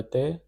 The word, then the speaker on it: thé: This is pronounced as thé, which means we don't want tea.